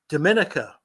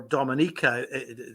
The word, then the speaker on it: Dominica: Now, Jim is based in Dominica, or Dominica, sort of Spanish and French pronunciation.